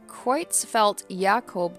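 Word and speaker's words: Creutzfeldt-Jakob: at the bottom it shows how to actually pronounce it a kreutzfelt jacob disease another name for bovine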